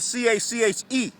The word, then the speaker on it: Cache: But they spell it C-A-C-H-E. But it's really C-A-C-H. S-H. Cache. Matter of fact, C-A-S-H.